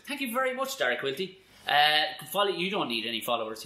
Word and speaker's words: Quilty: Quilty. Q-U-I-L-T-Y. Quilt with a Y. Dara Quilty. It's all spelled phonetically.